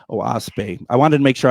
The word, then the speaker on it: Oahspe: It's spelled OAHSPE, and it's pronounced Oaspe. Oaspe.